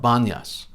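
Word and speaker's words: Banias: depicted with his flute this site should be called panyas but locals arabs could not pronounce it so it's called banyas some accents and speakers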